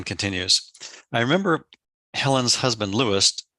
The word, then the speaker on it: Louis: I remember Helen's husband lewist Lewis pronounced Louis uh once telling me